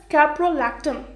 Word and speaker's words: caprolactam: see a piero l AC d am this pronounces caprolactam okay what the rest structure how it looks